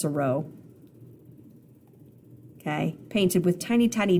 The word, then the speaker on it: Seurat: Seurat dot. I think it's pronounced Seurat.